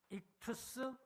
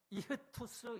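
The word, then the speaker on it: ΙΧΘΥΣ: 이걸 익투스 혹은 이흐투스 이렇게 읽어요.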